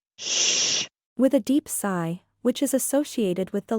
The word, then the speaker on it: Si: sh, with a deep sigh, which is associated with the liver. He, pronounced like her, with a yawn, which is associated with the heart. Si, pronounced like sir, with a slow exhale, which is associated with the lungs.